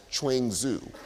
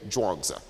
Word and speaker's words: Zhuangzi: based upon the older spelling it's often been mispronounced as trains ooh so if you have heard the name trains ooh that's actually a mispronunciation of indeed the figure we're talking about today drawings Oh same person just just this spelling we now